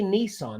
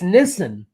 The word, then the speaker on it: Nissan: to the automobile manufacturer Nissan you don't say Nissan that's not how you pronounce it do you know how you pronounce it correctly Pat I've heard this before but I cannot remember okay it's Nissen yeah so and and the only reason I'm